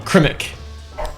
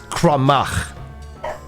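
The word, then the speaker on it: Crymych: Crimmick. That's really close. It's Crumach. Crumach. Okay, yeah. So, Crumach.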